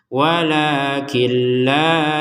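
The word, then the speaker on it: وَلَٰكِن لَّا: Kenapa perlu ditekankan? Ya karena khawatir nanti dimasukkan dengan dengung. Walakilla. Enggak boleh itu. Jadi harus ada de harus tidak ada deng dengungan. Walakin laa yas'urun.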